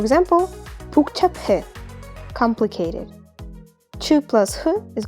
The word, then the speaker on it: 복잡해: For example, pu plus hu is going to be pronounced as pu. For example, 복잡해, complicated.